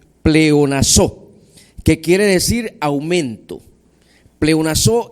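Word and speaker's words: πλεονάζω: Esa palabra abundara es de la raíz griega pleonazo, con acento en su última vocal, pleonazo, que quiere decir aumento.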